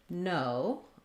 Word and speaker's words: no: the letters o h because when we say no we do have that diphthong o in that word so watch out that you're not you don't want to just use the single o sound no that's gonna sound a little bit short like no uh and americans might